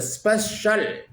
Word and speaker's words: special: और अब हम किस चीज के ऊपर ध्यान देंगे कि स, हार्ड स है, हार्ड से, स्पेशल, SPECIAL, यानी सी के बाद में IAL आने पर से हार्ड होगा।